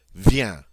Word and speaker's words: viens: Je viens. Notice that viens is a one-syllable word. It has that nice nasal "eh" sound in it.